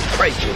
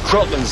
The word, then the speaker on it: kraken: And I don't think it's Kraken anyways. Always heard it said Kraken. Oh, with a long A? Uh-huh. No. Crotland's how it's pronounced in the original Scandinavian.